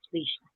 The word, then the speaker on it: Leisha: Lisha. I know it looks like an I, but it is an I, but it's pronounced Leisha.